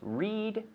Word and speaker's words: read: Read. Yesterday I read, not reth.